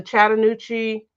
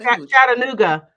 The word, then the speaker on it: Chattanooga: and and fix it um the chattan nuci okay I don't think I pronounced that right you didn't chatt Chattanooga Chattanooga okay yeah the Chattanooga area